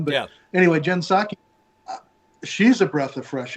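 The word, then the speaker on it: Psaki: saki or what jim posaki or jinsaki or rocky yeah it is i think the p is silent on that one but yeah anyway jen saki she's a breath of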